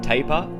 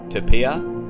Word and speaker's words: tapir: There's a few different ways to pronounce taper, which may confuse people. You can say taper, tapia, tapia, or tapia. Either one of these is correct.